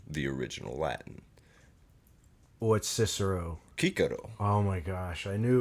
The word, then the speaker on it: Cicero: you see a C, it's pronounced as a K.